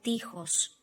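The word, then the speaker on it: τοίχος: in Greek is o tihos. O tihos. Again, masculine gender. We can also see here omicron iota, which I remind you that we pronounce as E sound. Tihos, o tihos. Okay, so we have also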